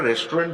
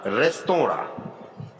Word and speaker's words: restaurant: এখানে এটি ভুল উচ্চারণে বেশিরভাগ ক্ষেত্রে আমরা রেস্টুরেন্ট বলে থাকি। বেসিক্যালি এটি ইংলিশ নয়, এটি ফ্রেঞ্চ। এর সঠিক উচ্চারণটা রেস্তোরাঁ।